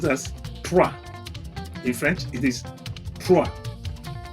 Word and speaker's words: trois: 3 is being pronounced as trois.